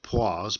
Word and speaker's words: poise: Judging by the spelling, you wouldn't think it would be pronounced as poise, but that's generally accepted that way.